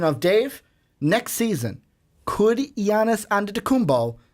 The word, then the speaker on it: Giannis: she didn't give me the Janus no it's Yanis under the kumbaya Gianna